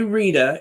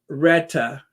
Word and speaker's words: Rita: um someone from Jamaica you don't say Rita it's Retta Retta gotta say it right reetta but anyway there's